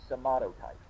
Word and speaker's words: somatotype: take into consideration is your somato type that's how to pronounce it's somato type and I don't want